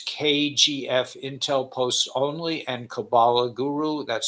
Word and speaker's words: Kabbalah: channels remember it's kgf Intel posts only and Kabbalah Guru that's spelled k-a-b-b-a-l-a-h Kabbalah Guru I'm posting all this Intel there's